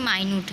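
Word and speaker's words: minute: दूसरा भी एक माइन्यूट होता है जिसकी स्पेलिंग है ये, बट उसे कहते हैं माइन्यूट है, और उसका मीन्स होता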